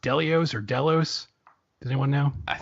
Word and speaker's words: Delos: Like we see the head of how's it pronounced? Delios or Delos? Does anyone know? Delos.